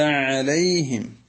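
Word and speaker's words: عليهم: നബി സലാം അലൈക്കും എന്നിങ്ങനെ ലേ ലേ എന്ന ഒരു എകാരത്തിലേക്ക് പോകാറുണ്ട് അത് ഇവിടെ അനുവദനീയമല്ല കാരണം ലാമിന് ഫത്ഹ് ഇട്ടാൽ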